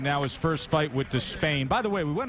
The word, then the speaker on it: Despaigne: was to be pronounced and he said last night you know what despain so that's what we go with despain my contest from this